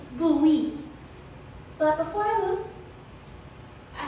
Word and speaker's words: Bowie: a place called maryland my sister said it's bowie but it's spelled like bone like david bowie but it's pronounced bowie but before i lose i have a confession